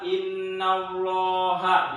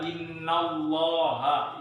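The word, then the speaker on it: إِنَّ اللَّهَ: Maka dibacanya dibaca tafkhim atau tebal. Contohnya adalah innallaha.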